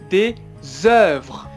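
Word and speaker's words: des œuvres: des doors des encore des oeuvres désordre alors c'est le le est ce qu'on va faire la liaison c'est pas facile mais c'est ze ze du désordre à cela c'était bien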